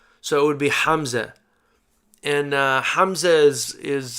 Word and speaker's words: Hamza: it would be pronounced hamza hamza ha is our strong h and then ha is our h like in english the weaker h so it would be hamza and uh hamza is